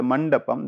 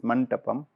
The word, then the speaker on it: mandapam: Basically, it is a mandapam. This pronounced is mantapam, which always cover and precede the door leading to the cell.